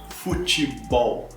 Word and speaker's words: futebol: uma palavra em inglês, mas a tônica está no ball, futebol, ball, ok? É a sílaba tônica que é a sílaba mais forte. Não futebol, mas futebol, futebol, ok?